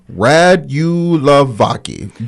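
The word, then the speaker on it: Radulovacki: He's let's try to break this down so we can pronounce it. Is Rad Vaki. Yeah. Radulavaki. Dr. Bronco Radulavaki.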